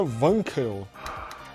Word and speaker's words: Wankel: você está falando errado Como se pronuncia o em que se pronuncia wanquel Aí eu pergunto para